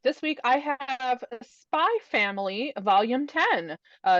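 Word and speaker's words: Spy × Family: I Googled it and apparently you don't pronounce the X it's just there for Aesthetics but I I kind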